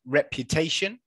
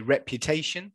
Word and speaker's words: reputation: say it again, it's reputation. Okay, reputation. So this sound, can anyone tell me what sound it is? Okay, so this is the sound. Okay, so we've got short e, okay, rep, okay, reputation.